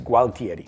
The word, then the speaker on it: Gualtieri: would have been Alexandro I've been saying it wrong all this time it's gualtieri Boom the beginning of